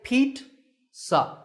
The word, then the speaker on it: pizza: So here's how you correct the mistake. Say Pete-sa. It's not pizza and it's not pizza. It's Pete and sa.